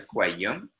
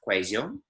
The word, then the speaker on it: cuello: La parte inferior del cuello, the back of your neck. So cuello is your neck, el cuello. Notice that a double L in Spanish is pronounced differently according to the region.